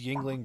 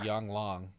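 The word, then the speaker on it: Yuengling: I mean, we're talking about a man who pronounced Yingling Brewery Yang Long.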